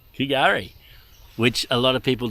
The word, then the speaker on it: K'gari: Kari, which a lot of people do pronounce Gari. The K may be silent.